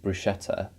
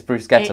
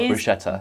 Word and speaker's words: bruschetta: It's Bruschetta, not Bruschetta. It is pronounced bruschetta. A lot of the time, most people pronounce, in the UK especially, people do pronounce this as bruschetta, but it is not